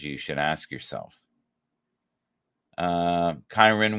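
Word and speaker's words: Kyren: should ask yourself uh kirn Williams you know or Karen Karen I believe is the correct way to say it Karine Williams is definitely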